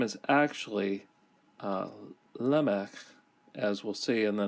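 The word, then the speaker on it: Lamech: finally take note of the name is actually Lemak as we'll see in the next verse it's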